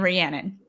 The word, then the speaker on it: Rhiannon: Yeah, it's Shannon Rhiannon.